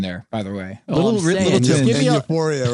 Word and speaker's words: Euphoria: kids out there I can't get over your pronunciation of yor yoria yoria it's your boy Euphoria your boy yoria Euphoria yoria uh it's not